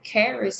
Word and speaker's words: Kharis: Summit as well you can follow Carey's group Karis is spelled k-h-a-r-i-s um on Facebook and again you'll